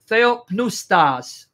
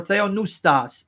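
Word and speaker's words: θεόπνευστος: Now, the Greek word is theopneustas. Some like to pronounce the P. Theopneustas or theonoustas.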